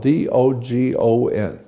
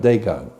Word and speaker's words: Dogon: It's spelled D-O-G-O-N. Dogon, not Dagon.